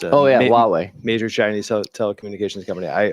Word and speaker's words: Huawei: has revoked licenses for sales of chips to, I always say it wrong, Huawei. Huawei. It's a Oh yeah, Huawei.